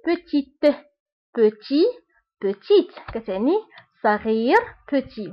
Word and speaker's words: petite: دونك بالنسبة لpetit ما كنطقوش تي، وفي الفيمينا كنطقوها، كنقول petite.